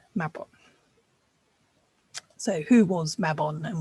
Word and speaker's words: Mabon: Now, Mabon, pronounced Mabon, does not refer to